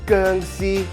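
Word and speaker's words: 薑絲: In Chinese, we call this geng xi, which I think is funny because that's the exact same pronunciation of vampire, geng xi.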